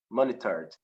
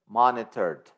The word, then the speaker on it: monitored: an australian system monitor monitored yeah so remember that the e is silent you don't pronounce the letter e monitor monitored monitored okay monitored uh